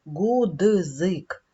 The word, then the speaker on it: ґудзик: При вимові не говоримо гудзик, ми говоримо злито. Дзь.